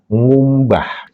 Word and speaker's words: ngumbah: Ketika diberikan imbuhan ng eng ng dibacanya ngumbah k-nya hilang.